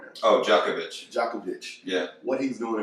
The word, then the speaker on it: Djokovic: I mean, you think about Djanovic, is how you pronounce his name, basketball right now? Oh, Djokovic.